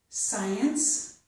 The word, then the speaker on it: science: This is the word science. So the beginning of this word has SC, and we just get a S sound.